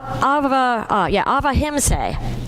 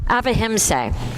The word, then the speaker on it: ahimsa: in, and it's called avahimsa. Avahimsa. It's spelled Ahimsa, but it's pronounced, the way I looked it up is it's pronounced avahimsa.